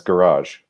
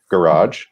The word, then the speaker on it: garage: So Anita says garage, which is correct. So I'll say mine one more time. Garage or garage in American English.